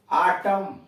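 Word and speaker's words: autumn: यन silent कहाँ कहाँ, आटम, ए यू टी यू यम यन, यहाँ यन का उच्चारण नहीं है।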